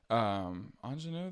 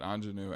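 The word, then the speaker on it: Aunjanue: Ingenue, that's a beautiful name, but the way it's spelled is not like the other word.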